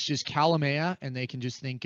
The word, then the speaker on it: Kalamaya: the ribs and said she's calling you mr calamari and i i just didn't like a dog i come to anything because i've had my name mispronounced on the pa system so many different times but um you know people often remember that but uh it's calamia k-a-l-a-m-a-y-a dot law and they